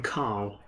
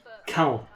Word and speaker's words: Khal: I like how you call him Carl. Why not? His name's Cal. Cal. King. Oh, do you pronounce it as Cal?